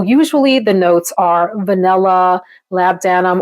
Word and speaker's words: labdanum: So usually the notes are vanilla, labdanum or labdanum as I pronounce it, and benzoin are typically the three that are blended the most.